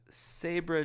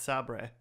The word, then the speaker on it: Sabra: and the Sabra Jaguar fleets. It's pronounced Sabre.